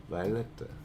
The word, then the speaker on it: Violeta: me forever am i pronouncing your name correct why i hope so violeta one piece of yeah b-i-o-l e-t-a violetta that's a beautiful name i love it all